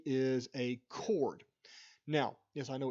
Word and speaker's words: chord: a B is a chord now yes I know it's spelled chor do we pronounce it chord that H is completely silent there is another chord